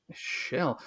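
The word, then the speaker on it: Kjell: It's Shell Askildsen. Shell. It's spelled with the KJ, so Shell Askildsen.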